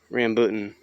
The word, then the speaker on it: rambutan: want to pronounce that the correct pronouncement or pronunciation is rambutan now they grow well in hawaii they they